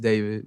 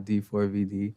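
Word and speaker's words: d4vd: Um, pronounced David, not D4 VD.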